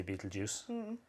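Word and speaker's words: Betelgeuse: the names Riel and Bal ju which is unpronouncable some people say Beetle Juice which means the armpit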